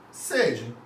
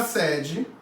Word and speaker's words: sede: Então aqui você vai falar, eu estou com sede, com esse E fechado, e aqui você vai falar, a sede da empresa é aqui.